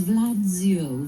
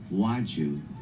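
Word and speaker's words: Władziu: But it's Polish for Walter.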